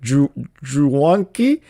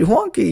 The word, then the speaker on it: Juanki: She was like Juanki, and I was like, oh, you got it right, Juanki, you got it right, because usually people that